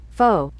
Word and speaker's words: faux: comes to Natural materials how to say it is foe faux is from the French fake or false simple enough